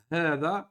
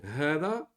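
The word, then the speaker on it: هذا: Donc, hada, on le prononce hada. Attention, c'est un med, c'est deux temps dans le Coran.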